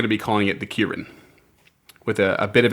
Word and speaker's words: ki-rin: Um according to the Forgotten Realms Wiki, it's pronounced Kirin or Kyren with the emphasis on the second syllable.